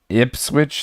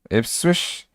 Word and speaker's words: Ipswich: Say Ipswich, Swish, Ipswich. Oh my god, I'm throwing a T in there. There's not even a T, but that's okay.